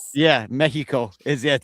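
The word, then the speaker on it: México: Like Mexico, Tejas, like that's how you pronounce the X. Yeah, Mexico. Is it the X makes a H sound, too?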